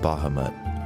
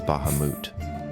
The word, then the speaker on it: Bahamut: I will start with Bahamut or less commonly pronounced as Bahamut the platinum dragon God